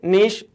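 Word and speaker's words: Nietzsche: अब फ्रेडरिक नीश German philosopher है, German language में वर्ड लिखा, मतलब नाम है उनका, जर्मन प्रोनाउंसिएशन है फ्रेडरिक नीश, इस तरह से प्रोनाउंस किया जाता है कहीं कहीं, ठीक।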